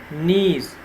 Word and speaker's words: knees: also have another word knees and knees also K is silent since we have to